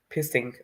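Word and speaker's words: phishing: uh fishing and how does it trick people fishing I think I don't pronounce it well I think uh I will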